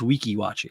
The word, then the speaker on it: Weeki Wachee: so far I bought three Weeki Wachee it's pronounced Weeki Wachee actually phone yeah 50 for the whole time